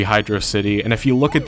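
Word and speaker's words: Hydrocity: people pronounce it as hydrosity I used to say hydrosity when I was younger but now I realize it's clearly supposed to be Hydro City and if you look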